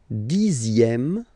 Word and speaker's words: dixième: Le dixième, so remember, even if you've got this ZX here, you pronounce it Z, dixième, dixième.